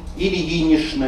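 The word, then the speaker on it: Ильинична: Ильинишна, Никитишна, Фоминишна, Савишна обязательно с ша-н произносится. Пишутся с чн, произносятся с шн.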